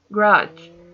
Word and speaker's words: garage: Garage, garage, garage. You feel the stress in the ending.